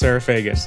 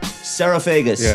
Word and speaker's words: Psarofagis: Yes, Sarafegas. Sarafegas. That's not how it's spelled, though. No, the P is silent.